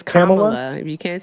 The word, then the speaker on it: Kamala: say something nice about Camala. I don't want to get emotional here. Sorry. Did you say Kamala? It's Kamala. If you can't say Kamla, just say Miss Harris